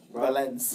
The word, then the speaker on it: Valence: It sounds like Valencia, but I don't know how to pronounce it. So. Valence.